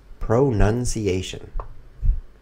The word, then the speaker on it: pronunciation: If you look at the spelling carefully, you will see. King fianchetto, very smart move. There's no ow shape. I think here. It's pronunciation.